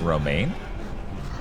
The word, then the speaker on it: Romijn: It's pronounced Romaine, I think. Huh. Yeah, I don't know. Oh, of course, it's a dead end. Fuck you, what? Apparently, it's pronounced Romaine.